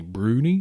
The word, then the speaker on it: brownies: more likely what are called brunies spelled brownies which I'm think probably 90% of whoever talks about them calls them brownies but yeah I I saw that the pronunciation should be brunies probably because it's usually said by a Scotsman that's what I was